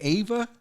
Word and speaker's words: Ava: And is that how you say it? Ava? Mm-hmm. Like AVA.